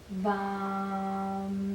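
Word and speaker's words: वं: You go VAM, like Really that.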